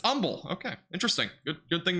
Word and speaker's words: Humble: would be but I learned so fast it's pronounced humble is this actually called humble right here near 69 Interstate 69 is anybody from that area I thought it was just humble I mean I don't know I used to